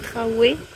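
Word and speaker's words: Trà Quế: Premier stop, on est à Traqué, enfin apparemment ça se prononce Traoué, mais ça s'écrit Traqué.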